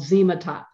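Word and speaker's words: Xematop: skin in a base called zematop it's spelt with an x not a z sub with a z but zema top is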